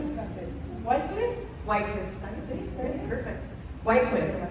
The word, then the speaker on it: Wycliffe: John llegó otra vez, a ver si lo pronuncio en inglés o en francés. Wycliffe. Wycliffe.